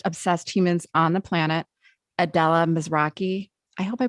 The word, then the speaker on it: Adela Mizrachi: the most podcast obsessed humans on the planet adella mizraki i hope i pronounced your name right yeah that's great adella